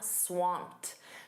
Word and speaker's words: swamped: You can also say, "I'm swamped." Notice that pronunciation. That e d is a soft t. I'm swamped.